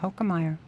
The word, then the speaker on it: Hokemeyer: We have a special guest for everyone listening, Dr. Paul Hokemeyer. Did I say it correctly? You said it correctly.